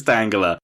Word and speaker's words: Tangela: call us on yeah you have a problem with the way I say Tangela that one is definitely Tanga Tanga of course it's Tanga it's the name Angela with